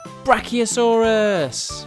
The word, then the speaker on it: brachiosaurus: let's learn all about brachiosaurus how do you say that again bra oh saw russ do you know how